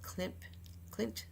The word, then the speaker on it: Klimt: Their vessel is really an inspiration from the Austrian painter Gustav Klimt, I believe is pronounced his name, and also be named after